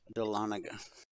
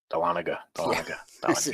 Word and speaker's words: Dahlonega: That's pronounced Dahlonega. Dahlonega.